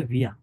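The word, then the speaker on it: wir: ভিয়া মানে, German ভাষায় এটাকে উচ্চারণ করবে ভিয়া, ইয়া না, ভিয়া।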